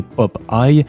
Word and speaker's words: Popeye: Son surnom, qui se prononce en réalité Pop Eye, fait référence au fait qu'il a l'œil pour repérer les trucs louches.